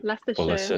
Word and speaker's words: Leicester: Um, and Chloe is in, how do you pronounce that word? Is it Lester? Lester. Lester. Yeah, Lester.